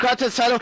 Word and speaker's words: Godhead Silo: Like, I was talking to the guy Mike from the band Godhead Silo. Is that, that's what you pronounce the name, isn't it? Yeah. Godhead Silo.